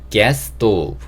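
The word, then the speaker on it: gas stove: get's go 이렇게 하는데 단어를 좀 유심히 보시면 gass도 s로 끝나고 스토브도 s로 시작해요 이럴 때는 SS 발음이 겹치기 때문에 한 번에 s만 발음하는 경우가 많거든요 그래서 gas 또 이런 식으로 발음해 주시는게 좋을 것 같고요 자이 가스레인지도 켜고 끄는게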